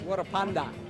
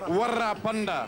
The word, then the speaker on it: Warapanda: It's Warapanda. Warapanda. Panda as in under. As in under, and you roll the R. Roll it. Warapanda. Warapanda.